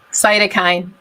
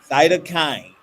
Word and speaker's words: cytokine: graduate research in and helped me with this pronunciation cytokine cytokine okay yes cytokine are the chemicals that the